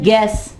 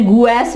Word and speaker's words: guess: इनकी एग्जाम्पल है गैस, गैस। यहां पे हमने गुएस नहीं कहा, गुएस नो, इट्स मीन गैस।